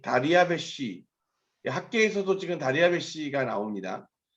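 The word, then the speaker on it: דריוש: 표현하다 보니까 나온 말이고, 실제 발음은 다리아베시라고 하는 발음이 훨씬 더 정확할 겁니다.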